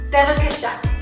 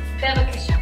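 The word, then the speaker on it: בבקשה: Bevakasha. Bevakasha. Bevakasha. Please, Bevakasha. How do you spell it, Hadassah?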